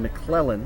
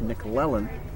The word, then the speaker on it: McClellan: just a little bit these people just naturally seen McClellan but it's nickel Ellen and he grounded out